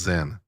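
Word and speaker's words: Sinn: It's pronounced Zen.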